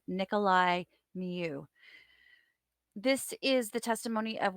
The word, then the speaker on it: Nicolae Miu: Tubing tragedy trial for Nicholas Nikolai I keep mispronouncing his name Nikolai mu this is the testimony